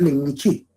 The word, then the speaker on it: Lenmichí: Bueno, en realidad la palabra es Lenmichí. Chíes es por el plural, pero es Lenmichí.